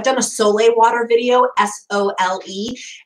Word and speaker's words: Sole: So I've done a Sole water video, S-O-L-E. It's pronounced Sole. It looks like soul, but it's Sole.